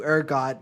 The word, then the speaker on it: ergot: Yeah, they started everyone in town started dancing, and they attributed to ergot. Is that how you say it? Yeah, ergot.